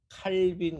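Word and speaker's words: Calvin: 옛날에 저희가 뵐 때는 칼빈 이렇게 배웠는데 그 우리나라 문법 체계가 많이 바뀌면서 외국어 표시 원어를 존중해 주게 돼서이를 깔 뱅이 발음을 하는데 깔뱅 이죠 깔뱅 뭐냐면 프랑스 스위스에서 종교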